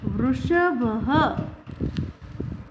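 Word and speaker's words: वृषभः: Here you can see the 2 dots. It is called Visarg. The 2 dots is called Visarg. And it is pronounced as Ha. Vrishabha.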